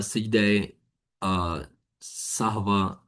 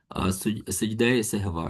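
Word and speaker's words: سجدۂ سہو: सुजूद अस सहावा या सजदे सवा या सजदे सवा जिस तरह आप लोग प्रोनाउंस कर सकते हैं बट सजदे सहवा ठीक है उसके बाद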